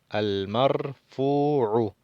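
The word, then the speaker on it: المرفوع: Al-marfu'u, aquí está el mim debajo del lam, al-marfu'u. Tenemos que prolongar el sonido de la U, porque aquí tenemos un waw.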